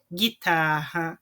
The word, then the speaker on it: guitarra: Então, eu não pronuncio o U, né? Mas ele faz com que o G na frente das vogais E e I tem o som de GUI, tá? GUI ou GUE.